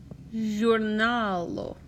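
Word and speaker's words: ĵurnalo: Giornalo. Giornalo. So that N-A-L, nal, is the next to last syllable.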